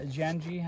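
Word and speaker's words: Janji: some neon yellow uh janii I think is how you pronounce it j a n ji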